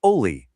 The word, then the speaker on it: OLE: It name is Oie, spelled O L E, and it's pronounced Ollie with a long O.